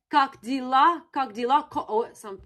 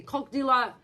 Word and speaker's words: как дела: The next one is cock dealer in English, cock dealer. And it sounds like, how are you? I'm not promoting anything today. It's just Russian. It's just about associations. So sounds like как дела, it's about pronunciation. Say как дела.